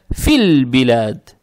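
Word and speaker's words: فِي الْبِلَادِ: Надо читать «филь-билад». «Филь-билад». «Фи» произнесли, не тянем и сразу сюда. «Филь». Теперь при переходе минуем «алиф». «Алиф» не надо читать, подсказка есть. «Лам» читается мягко, здесь с сукуном. И мы понимаем, что следующая буква, буква «ба», она лунная. То есть «филь», «филь-билад». Опять здесь «лам», во-первых, читается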